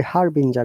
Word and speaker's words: harbinger: should i pronounce it is it harvinger or harbinger always follow the rules first guys so in my understanding it should be harbinger because after g there is e and the rule says if there is